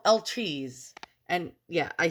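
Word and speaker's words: étui: And these are called, I looked it up, they're called El Trees.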